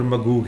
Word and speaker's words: Magog: بلکہ اگر ان کے تلفظ میں اس کو پکارا جائے تو گوگ اور مگوگ ہے, جس کو پھر انگلش میں گوگ اینڈ مگوگ کر دیا گیا, کیونکہ ان کے ہاں جیم گاف کی طرح پڑھا جاتا ہے عبرانی کا.